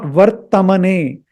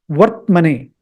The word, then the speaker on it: वर्त्मने: No, it's not vartmane. It is, the right pronunciation is vartmane.